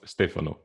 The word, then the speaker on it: Stefano: thanks for having me also it's pronounced stefano but no don't worry yeah don't worry because uh there's not a single english native speaker pronounce my name correctly sorry stephanie yeah much